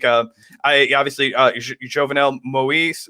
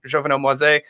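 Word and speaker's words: Jovenel Moïse: Jovenel Moise, I believe is how you pronounce his name. Jovenel Moise, current president, seeking another year of his term,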